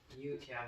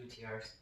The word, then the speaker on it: youtiao: Youtiao, not UTRs.